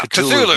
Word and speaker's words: Cthulhu: Yeah, Cthulhu.